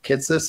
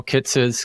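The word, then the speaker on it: Kitces: so most people will not be familiar with kitus and how to spell it it's k i t c e s that's right yeah Michael kites kit T CES hopefully we're pronouncing it correctly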